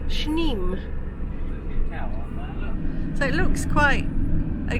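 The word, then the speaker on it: Sneem: I've been told it's pronounced spelled sne and pronounced schne so it looks quite a gloomy cold day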